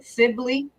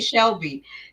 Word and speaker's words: Sibley: But what I did see down in Dolton, the Sibley. Shout out to my fave. She said it right because I usually say Shelby.